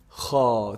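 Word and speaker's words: خ: So kha is actually the closest throat letter to the mouth. The closest throat letter to the mouth. Kha, kha. If you feel it, it's pronounced from the top part of the throat. Kha, kha. You can feel the vibration in this part.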